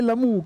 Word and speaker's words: Lamù: Adesso te lo dico il mio nome è Lamù con l'accento sulla u bellissimo questo nome mi